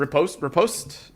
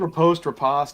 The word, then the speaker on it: riposte: Repost, right? I think riposte. I think it's Riposte? interchangeable. Yeah, okay. It's French.